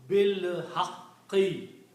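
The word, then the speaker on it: بالحق: And when you read them together, you do not pronounce this alif here. Combine B with the lam, bil haqqi, with the truth.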